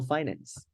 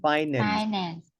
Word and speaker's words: finance: know about say personal finance okay and at that part I just pointed out and emphasized the way we pronounce the word Finance Finance Finance not Finance like most Vietnamese people say Okay I I can